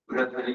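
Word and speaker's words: भर्तृहरि: university बनी है, राजऋषि महाराज बृहदहरि, ये सही प्रोनाउंसिएशन बृहदहरि थोड़ा उसका तत्सम रूप है, बृहद सेवक से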